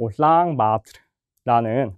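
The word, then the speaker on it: Улаанбаатар: 자, 이거를 이제 몽골어로 발음하면은 사실 올랑바토르라는 말과 훨씬 가까운데 자, 이제 관용적으로 저희가 이제 굳어져서 울란바토르 또는 울란바토르라고 많이 씁니다.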